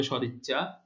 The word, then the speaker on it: সদিচ্ছা: আচ্ছা, তাহলে কি সমাসবদ্ধ শব্দ সদিচ্ছা? হ্যাঁ, তাহলে এই যে পূর্বপদের যে আদ্য অধ্বনি রয়েছে তার উচ্চারণ স্বাভাবিক হচ্ছে। এখন দেখো, নিয়ম অনুযায়ী আমরা বলেছিলাম আদ্য এর পরে ই ধ্বনি থাকলে আদ্য এর উচ্চারণ ও এর মতো হবে, কিন্তু এখানে হচ্ছে না, কারণ এটি সমাসবদ্ধ শব্দ এবং সেটি না আদ্য এর উচ্চারণ অ এর মতোই হচ্ছে।